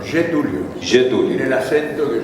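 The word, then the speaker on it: Getúlio: En portugués se dice, se pronuncia, se dice getulio o getulio, ¿no? Yetulio.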